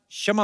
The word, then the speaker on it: क्षमा: मैं कशमा चाहेगा। कशमा नहीं क्षमा होता है।